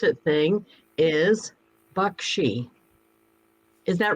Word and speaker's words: Baxi: see that you have the uh how to pronounce it thing is bakshi is that right yes 10 out of 10.